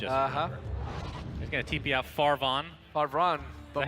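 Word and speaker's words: Farvhan: He's gonna TP out Farvan. Farvan. Is that how you say it? Farvan? I think it's Farvan. No, Farvan. Yeah, you're right. The ancient. It's like a van that is pretty far.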